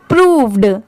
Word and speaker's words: proved: प्रूव्ड। ठीक है, प्रूव्ड, PROVED, प्रूव्ड। अगर इसे डिवाइड करें तो PRO, इसे प्रो नहीं प्रोनाउंस करेंगे, यहाँ पर इसकी साउंड क्या आ रही है? प्रू की।